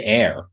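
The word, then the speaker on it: heir: do you say hair no you say air oh like air to the throne oh I was talking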